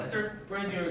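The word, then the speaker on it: entrepreneur: 자, 그래서 엔터프레니어 같은 경우는 무슨 의미일까요? 기업가, 사업가, 기업가 이런 뜻이고, 약간 그 발음이 프렌치스럽지 않니? 엔터프레니어.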